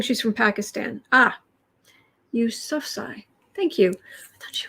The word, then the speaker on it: Yousafzai: Yousafzai? Sorry. Malala. Will she become a leader in Afghanistan in the future? She is quite the messenger, isn't she? Always has been. The first pronunciation was correct.